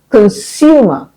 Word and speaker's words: consumer: Next you have consumer. Consumer and consume. Not consumer. Yes, a lot of people around me will say consumer or even consumer.